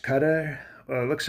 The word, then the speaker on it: Qatar: But I'd like to thank they're telling me it's pronounced cutter.